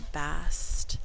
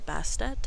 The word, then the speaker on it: Bastet: But I did get their Bast kit, or Bastet, however you feel called to say her name. I do say Bast when I work with her.